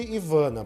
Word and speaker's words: Ivana: todos os efeitos ele é somente Ivana pronuncia no último a a francês Ah então Ivana francês